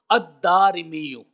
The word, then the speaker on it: الدارمی: اس کے بعد الف ہے، پھر را کے نیچے زیر اور پھر میم کے نیچے زیر ہے۔ الدارمی۔ اب یہ جو میں